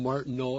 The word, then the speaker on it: Martineau: It's pronounced Martineau and his wife Una.